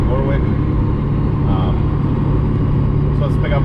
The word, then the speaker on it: Warwick: we are headed to i believe it's pronounced warwick connecticut and warwick warwick um so let's pick